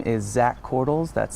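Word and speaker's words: Korthals: My name is Zach Cordles. That's spelled Z-A-C-H, and Cordles is K-O-R-T-H-A-L-S.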